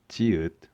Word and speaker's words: 지읒: Z has the same as 지읒.